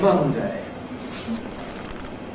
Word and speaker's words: Monday: And that is a difference in whether or not you weaken the ‘-day’ part of it. There’s a general tendency to keep it strong when you’re emphasizing it, when it’s at the end of an utterance, (such as in) “I’ll do it on Monday /ˈmʌndeɪ/,” and a general tendency to weaken it when it’s part of some greater structure, so ‘on Monday /ˈmʌndi/ morning’, ‘Tuesday /ˈtjuːzdi/ evening’, ‘Wednesday /ˈwenzdi/ afternoon’.